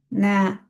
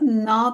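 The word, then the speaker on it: نه: Ne? Tekrar edelim arkada. Arkadaşlar na değil ne?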